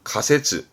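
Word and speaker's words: 仮説: 많이 봤을걸요 가정 가정법의 가정이죠 발음은 각대 가설 발음은 가세쯔 가세쯔 가하면 얼굴에서는 가면 다 가면 바르면 가면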